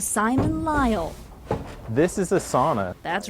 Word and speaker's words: sauna: I've been told that you actually pronounce it sauna.